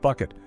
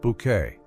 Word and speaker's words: Bucket: Created by Roy Clark, the show revolves around the life of Hyacinth Bucket, who insists her last name is pronounced Bouquet, and her ceaseless attempts to climb the social ladder.